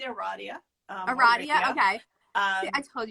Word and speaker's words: Aradia: We are, I say Aradia. Aradia, okay. See, I told you I can't say anything. Some people say Aradia. Okay. But because I'm the East Coaster, Aradia. Aradia.